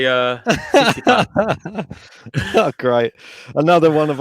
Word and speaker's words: Tsitsipas: And for some reason, I find it just blows your mind even more because he actually pronounces the T when he says his name.